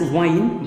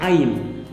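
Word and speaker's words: yne: You should always understand that wine, this is not pronounced as wine but ine.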